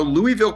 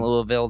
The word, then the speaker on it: Louisville: So Louisville, Kentucky.